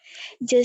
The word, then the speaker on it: je: Je suis paresseux. Oke, saya perbaiki ya. Ini untuk J, di sini bacanya je ya.